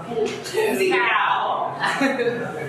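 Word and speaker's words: สีขาว: ำ ส ี ด ำ ไ ว ้ ส ี ข า ว yes Why are there so many cows? ส ี แ ด ง ส ี ด ำ ส ี ด ำ ส ี ข า ว ส ี ข า ว You gotta have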